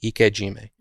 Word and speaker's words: ikejime: i process fish at the end is called ikojima so it's spelled ik e space j j-i-m-e ikejime okay so there's ikajimi and then shinkaijime and